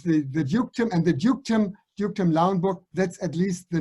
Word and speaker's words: Lauenburg: And that's dukedom Lauenburg. Lauenburg is easy to pronounce for you, Lauenburg, and dukedom also.